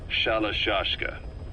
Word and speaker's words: Shalashashka: somewhere along the line, Shashka got stuck on the end of Sharashka. The guerrillas were using the name amongst themselves, and by the time I got to hearing about it, pronunciation had wound up as Shalashashka.